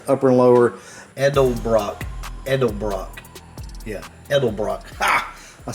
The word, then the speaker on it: Edelbrock: Yeah, Edelbrock.